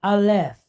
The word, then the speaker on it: aleph: So we have the letter aleph. Now, first letter in the alphabet, but it is a silent letter. Okay? Doesn't have a sound of its own, but it has this series of dots underneath it.